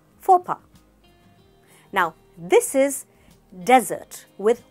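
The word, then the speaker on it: faux pas: Here in this word, the W is silent, so it's not sword, it's sword, sword. This is not fox pass, it's fopa, fopa.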